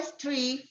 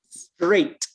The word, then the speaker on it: straight: Go Street for Straight. Straight. Porque está diciendo calle. Street. Straight. Como el número 8. ¿Cómo se dice 8? 8. Straight. Ese es el sonido que quiere decir aquí.